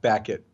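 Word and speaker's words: Baquet: they repeatedly asked buck hey that's how you pronounce his name Aaron became Dean back it back it really back yeah yes why not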